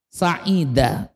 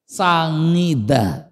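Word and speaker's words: سعيد: Sai said artinya bahagia. Tapi susah nyebut said jadinya sangidaah ya.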